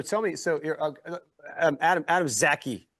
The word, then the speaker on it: Zaki: So you're Adam Zaki. Am I saying it correctly? Yes, you are, Adam Zaki. Adam Zaki. Like wacky like Zaki. Like a lackey, right?